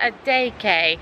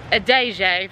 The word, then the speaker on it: Adeje: I was calling it a DJ for ages and in my packing video until I was corrected. Well, it's spelt, in my defense, it's spelt with a J. It's spelt with a D and a J. Costa Adeje, apparently.